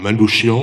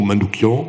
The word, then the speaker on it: Manouchian: l'affiche rouge, qui est Manouchian ou Manoukian, on peut le prononcer comme on veut.